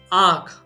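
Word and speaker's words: આંખ: For eye, aankh.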